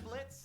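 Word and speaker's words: Blitzø: I'm Blitz. The O is silent.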